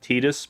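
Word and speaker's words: Tidus: uh I'm just going to go with with Titus it's technically pronounced tetus but I'm calling it Titus calling him Titus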